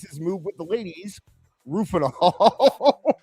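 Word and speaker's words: Rohypnol: I I don't know how to How do you How do you pronounce the uh the actual name for Rofies? Ruf Rufinol. Yes. Rufinol.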